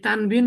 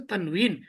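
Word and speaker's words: تنوين: তাহলে আমাদের আরবি সঠিকটা হচ্ছে তানউইন।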